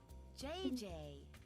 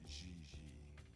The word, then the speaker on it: Gigi: what about jj ling you mean no i mean jj gg jj on fiance you pronounce g like j and j like g she may very well be jj in america but in france she is gigi how well does she